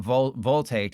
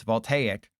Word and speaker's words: voltaic: It's not voltaic. It's voltaic. Like I'm trying to think of a like volcano. No, that that doesn't work.